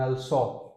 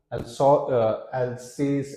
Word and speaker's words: Alsace: Now these two cities, now this is read as, इसको हम दिखने में आपको Alsace ऐसा लग रहा है, but the way it is pronounced, because the French word is very different, Alsace and Lorraine.